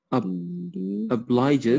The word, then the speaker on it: obliges: will kill yourself okay the noun was obligation but the pronunciation of the verb changes obliges yes very good okay